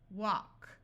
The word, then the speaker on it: walk: If you have LK or LM, then the L will be silent.